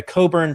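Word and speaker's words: Cockburn: revisit or look at Alexander Coburn spelled like Cochburn Alexander Coburn's work um that's my guy.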